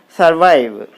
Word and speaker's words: survive: is the second syllable and survive is a web so you put the stress mark on the second syllable therefore you put the